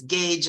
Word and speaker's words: gauge: make an opening but their pronunciation is totally different now from the spelling and remember the one is Gage and the other one